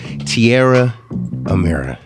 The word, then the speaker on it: Tierra Amira: Tierra Amira.